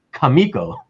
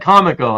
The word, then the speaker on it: Comico: The publisher's name is actually supposed to be pronounced Kamiko. Kamiko, okay, got it. Believe it or not, I always said Comico, and then I found out several years ago that it was Kamiko.